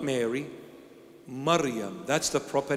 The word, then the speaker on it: Maryam: maybe you've heard this before but the proper pronunciation is Maryam not Mary Maryam that's the proper name Hebrew Aramaic Syriac original